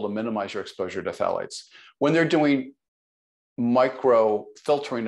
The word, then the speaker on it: phthalates: you talk about the thiates, is that correct? Am I saying it correctly? The thiates, the plastics. Oh, phthalates. Phthalates. Uh-huh.